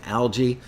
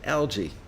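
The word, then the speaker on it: Alge: ssl the chris lord algae does anybody knows he pronounced his name algae like that green stuff that grows in the inside of your aquarium or is it alg battery for drums amazing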